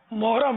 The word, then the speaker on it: محرم: یہ دوسرا جو سوال تھا اس میں تو محرم کا تلفظ ماشاءاللہ صحیح لیا، لیکن ہم عوام الناس جو ہے نا یہ محرم کو محرم بولتے ہیں. محرم آ گیا، یہ محرم نہیں ہے، محرم محرم محرم.